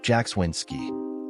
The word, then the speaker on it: Jackswinski: My name is Jackswinski, pronounced Jackswinski.